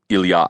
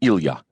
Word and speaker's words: Ilya: When friends called him Ilya, it was with the proper Russian pronunciation, with the accent on the ya.